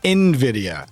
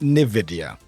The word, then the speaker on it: Nvidia: Um, but yeah, like this is the same person who said Nvidia wrong because apparently Nvidia, this one is pronounced Nvidia as in Invidia, not Nvidia.